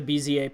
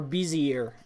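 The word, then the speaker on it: Bézier: It's these handles, these bezier handles, basically determined by math, but these are the bezier points that I'm referring to, okay? Or bezier, if you like to mispronounce things.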